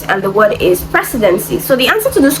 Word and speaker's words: precedency: Now this question is under word stress and the word is precedency. So the answer to this question is option D. It is stressed on the first syllable.